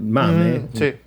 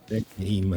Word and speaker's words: MAME: ROM degli arcade, cioè il MAME, game, se lo vogliamo dire in inglese, ma come italiano, io lo pronuncio in italiano, Machine Arcade Emulator, è